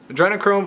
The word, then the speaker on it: Adrenochrome: this band under anachrome okay you pronounce that adrenochrome with hideous appetites I